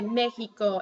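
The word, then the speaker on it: México: like H for example here you say Mickey go it sounds like an H there but then in a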